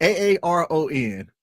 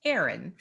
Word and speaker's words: Aaron: spelled the same pronounced Aaron. Yes. So I always tell people two two A's. That's like the long A sound. So I I would say Aaron.